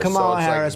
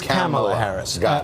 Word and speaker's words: Kamala Harris: Kamala Harris here's how the name is actually pronounced not or well it is Camilla Harris is not come on Harris pants its Kamala Harris only uh you know only only one we